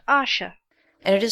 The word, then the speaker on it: Asher: is a mysterious character his name is Asher pronounced Asha and it is said